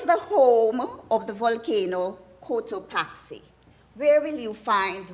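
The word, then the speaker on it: Cotopaxi: Can you tell me what is the home of the volcano Kotoaxi? Where will you find the volcano Kottoaxi? Did I pronounce it correctly?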